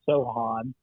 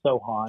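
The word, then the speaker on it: Sochan: It's pronounced Jeremy Sohan. I got verification of that. So S-O, like the C is silent. So it's Sohan.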